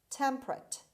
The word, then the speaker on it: temperate: 12 is temperate temperate temperate the stress is at the beginning means not very hot